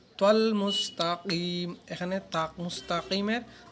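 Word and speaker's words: مُسْتَقِيم: এখানে তাক, মুস্তাকিমের বড় কাফ সশুদ্ধ করে উচ্চারণ করতে হবে, মুস্তাকিম।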